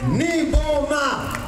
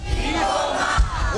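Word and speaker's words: Nyboma: This guy, can you everybody say Niboma? Niboma. One more time, Niboma. Niboma. We spell it N-Y-B-O-M-A.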